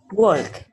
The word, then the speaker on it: walk: Walk. Okay. Now, can you repeat? How did you walk. pronounce it? Okay. Walk. Now, when you pronounce it, don't pronounce the L.